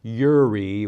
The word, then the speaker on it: Jireh: in the Hebrew language, there is no letter J equivalent. So when this read Jehovah Jireh, I pronounce it Yahweh, the sacred name, Yireh, which is a Y equivalent in the Hebrew alphabet.